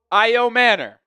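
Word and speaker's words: Ayomanor: Oh, the Titans just traded up and they took Elic Io Manor is how you say it. Elic Ao Manor, the wide receiver from Stanford.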